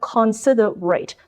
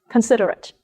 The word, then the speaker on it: considerate: ending of this word spells r-a-t-e rate and in this word sounds like red so instead of consider rate this word is pronounced as considerate considerate the ending of this